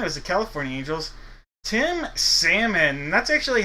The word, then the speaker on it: Salmon: Tim Salmon. That's actually how as a little kid I got to pronounce it wasn't Salmon.